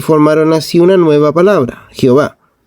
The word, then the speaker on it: Jehová: Y para recordar al lector que por respeto debían decir Edonai en vez de Yahvé, pusieron las 3 vocales E, O, A de la palabra Edonai y resultó Jehová en latín.